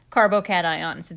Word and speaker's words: carbocation: carbo cations are compounds that have a positively charged carbon